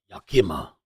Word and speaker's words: Yakima: So, I saw your instant message how to pronounce it. Yakima.